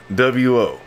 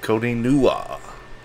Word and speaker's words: CODEENNWO: CODEENNWO. That's Codeen NWO. Sometimes people pronounce it Codeen Nua. That is not it. That is not it at all.